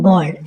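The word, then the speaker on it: bald: तो स्टोरी का टाइटल है दोस्तों द बोल्ड मैन यानी बोल्ड। इसको देखने में लगता है दोस्तों ए से बेल्ड पर आ जाएगा। लेकिन बी ए का उच्चारण यहां ब ठीक ब सॉरी ब होगा यानी बोल्ड मैन एंड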